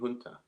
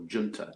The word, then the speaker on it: junta: was displaced by a military hunter or junta depending how you pronounce that yeah uh so you